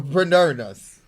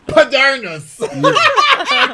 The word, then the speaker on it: Moderna: the second dose of the Pfizer or the Moderna's. See, Moderna. Did I you say said it right. Moderna? Moderna's. We don't want to get sued, so I'm You- gonna say it wrong. Moderna's.